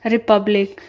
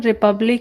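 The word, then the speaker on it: Republic: Question है, symposium और रिपब्लिक। दोस्तों, इसका सही प्रोनाउंसिएशन रिपब्लिक ही है, कहीं कहीं रिपब्लिका लोग बताते हैं, रिपब्लिका नहीं है।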